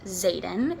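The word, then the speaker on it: Xaden: meets her love interest Zaden it's sped with an X if I'm pronouncing the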